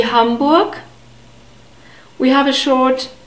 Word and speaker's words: Hamburg: and who becomes 0 humbug hamburg humbug the stress is on the first syllable like in most of the German words and then we have